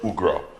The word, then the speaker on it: Ougrah: His name is Ougrah. I got that pronunciation correct?